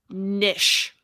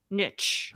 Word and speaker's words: niche: It really makes me mad when people pronounce it nish. Nich.